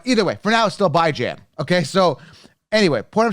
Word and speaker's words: Bijan: but awesome I like baijan I should start calling him how he likes to pronounce Bijon just because he's a nice guy really good guy but either way for now still by Jam okay so anyway what